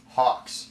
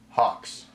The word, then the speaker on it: Gauxx: You probably want to know my last name too, Hawks. It has a G, but it's pronounced with an H. Hawks. Wait, so is Gauxx pronounced with a silent G and the sound of an H.